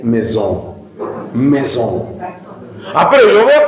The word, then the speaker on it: maison: palabra en francés Maison no no se dice Maison se dice Mesón Mesón Ah pero yo